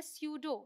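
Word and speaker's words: pseudo: वालों को तो यह क्या है न्यूमोनिया पी साइलेंट यह है न्यूमेटिक ऑलराइट यहां देखते हैं पीएस वाले को यह है सूडो यह है साइका एट्रिल यह है साइकोथेरेपी साइकोलॉजी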